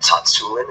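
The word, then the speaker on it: Tsatsouline: and my guest is none other than pavel Tatsu in and yes that is how you say it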